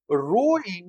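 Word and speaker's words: rho: बच्चों ध्यान रखना है p इसको हम लोग पढ़ते हैं रो। यहां भी गड़बड़ी है कि रो में h साइलेंट है।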